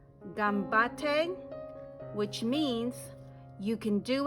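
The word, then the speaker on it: 頑張って: It is pronounced gambate, which means you can do it, good luck.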